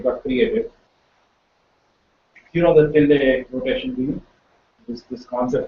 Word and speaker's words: tilde: It is denoted as tilde. It is spelled as PILDE, the Greek letter. So when I say tilde, I mean this character,